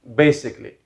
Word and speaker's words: basically: not money and finally basically basically basically the wrong pronunciation is basically basically so i've heard a lot of students uh you know pronouncing it this way basically on a is silent over here so basically basically as